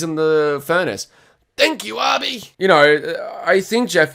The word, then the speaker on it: Obi: Yeah, and it is pronounced Arby. I said it in the Saw 2 video, but it's not Obi like everyone says, because literally Xavier says, "What the fuck's an Obi?"